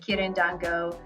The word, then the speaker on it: Quirindongo: And his last name, in case you were wondering, Rico spelled like Rico, R-I-C-O, and Quirindongo, Quirindongo. And if you haven't already,